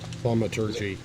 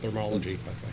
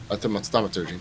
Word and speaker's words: thaumaturgy: Thaumaturgy, not thermology. Thaumaturgy.